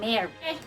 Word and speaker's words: Mary: Pour différencier prononciation et spelling là et orthographe là, Marie M-A-R-I-E prononcé Marie, Mari, M-A-R-Y, prononse mare.